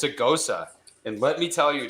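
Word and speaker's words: Gose: a ghosta it's a ghosa and let me tell you dude it's called dude google goes it's g it's like it's you pronounce it like knows okay but with the g and then you uh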